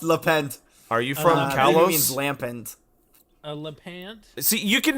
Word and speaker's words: Lampent: Chand oh my God and lent Lampent it's not like it's l a apostrophe P NT stop trying to make things